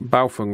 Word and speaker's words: Baofeng: that all your other balung and that is the correct way of of pronouncing it balung radios program up I